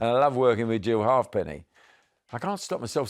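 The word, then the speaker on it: Halfpenny: I can't stop myself saying hate me, but she No, I young producer said, "How do you pronounce it? Is it Hate Me?" anymore. Nobody knows what you mean if he's a hapney.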